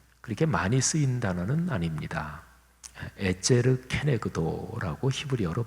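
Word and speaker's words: עֵזֶר כְּנֶגְדּוֹ: 에제르 케네그도라고 히브리어로 발음하는데 근데 그 단어가 창세기 말고 다른 데 쓰인 데를 보면 하나님께서 우리 사람을 도우시는 도움, 그렇게 도우시는 하나님의 손길, 이거를 표현할 때 에제르 케네그도 이 표현을 썼어요.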